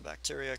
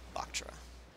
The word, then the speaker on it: Bactra: So bacteria can, or Bactra? Bactra. I should probably pronounce it better.